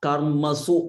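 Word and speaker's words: कर्मसु: And here is karmasu. We have seen a lot of this, but here it is a refa, so called a rakaram. So here in this case, it is coming on the top. So it will be pronounced first, karmasu, karmasu.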